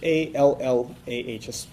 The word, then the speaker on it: Allah: So we call him Allah. His name is Allah. That would be spelled in English A-L-L-A-H, an emphasis on the L, okay, Allah.